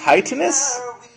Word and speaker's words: chitinous: Chitinous? Chitinous. Fuck you. It's chitinous, and I'm always going to call it that. I'm not. It's chitinous.